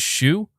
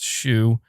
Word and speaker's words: Hsu: Now, I'm pretty sure this person, Tony, I think the way you pronounce their last name is Shu. I think. I could be wrong about that, but even though it's HSU, I'm pretty sure that's pronounced Shu. I think it's Chinese.